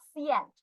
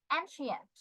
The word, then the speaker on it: ancient: ওল্ড, ancient, not scient, ancient, she হবে উচ্চারণ, ancient.